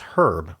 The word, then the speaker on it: Herb: Is is herb? Oh Oh, yeah, when you capitalize herb, it's Herb. So, someone's uh name, like a man's name, Herb.